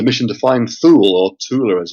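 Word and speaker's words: Thule: island were searching for Tula which is like the northern version of Atlantis it's often it's often written as thula and often pronounced as thula in American films but it's tula There's no th in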